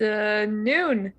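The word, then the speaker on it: Anoon: got your name it's a noon yeah rhymes with june jude why we work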